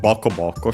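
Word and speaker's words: ボコボコ: But yeah, this one, Boko Boko, should be accented on the first syllable, like most onomatopoeias, and it is.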